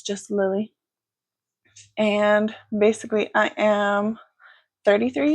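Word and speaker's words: Lillie: So, again, my name is Lily. It is spelled L I L L I E.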